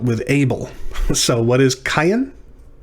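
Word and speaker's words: קין: And this yod is not pronounced like a J, is in our English translations.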